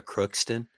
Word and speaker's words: Crookston: That's Minnesota Crookston. I'm making sure I'm pronouncing that right. That is correct.